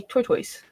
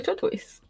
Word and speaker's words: turquoise: of black and instead of turquoise I used to say tortoise yeah oh my goodness I love the color turquoise so I have to